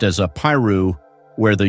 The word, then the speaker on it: Apiru: In Egyptian writing, its closest equivalent seems to be trad-u, traditionally pronounced as Apiru, where the u functions as a plural suffix characteristic of Egyptian.